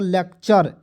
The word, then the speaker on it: lecture: क्या हो जाएगा दोस्तों, LECTURE क्या हो जाएगा, लेक्चर, ठीक है ना।